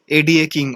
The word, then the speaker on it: ADA King: It's called ADA King, or you may also pronounce it as Ada King.